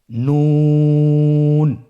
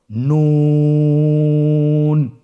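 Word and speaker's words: نون: আপনারা জিহ্বার আগাটা তার বরাবর উপরে তালুর সঙ্গে লাগিয়ে উচ্চারণ করুন এবং আমার সাথে বলুন নুন। আবার বলুন নুন।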